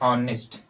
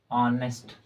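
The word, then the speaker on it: honest: जानते हैं ना जैसे ऑनेस्ट ऑनेस्ट अब इसे ऑनेस्ट मत पढ़ दीजिएगा यह ऑनेस्ट होता है ऑनेस्ट ऑनेस्ट नेस्ट नहीं होता है ऑनेस्ट इसमें यह चज साइलेंट है अगर कोई वर्ड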